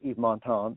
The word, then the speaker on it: Yves Montand: And Yves Montand, I'll pronounce it right this time, in Grand Prix, and then.